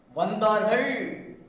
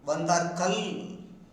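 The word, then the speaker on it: வந்தார்கள்: Even most of Tamil scholars pronounces il instead of il, instead of saying avargal. Some people say avarkal, vandargal, vandarkal.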